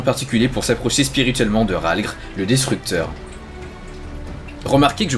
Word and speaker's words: Rhalgr: subi un entraînement particulier pour s'approcher spirituellement de Rhalgr, le destructeur. Remarquez que je prononce bien son nom maintenant.